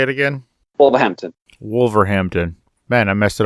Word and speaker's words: Wolverhampton: from all the way across the pond and wolf Hamsterdam or wherever the hell you are how do you say it again Wolverhampton Wolverhampton man I messed it all up again